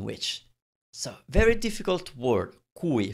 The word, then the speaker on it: cui: so very difficult word cui first of all sometimes this mispronounced because you make you some people make it sound like qui now qui it's spelt